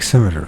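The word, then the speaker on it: scimitar: symmet symmet no schimer sounds like cimeter so the C is silent and meaning of a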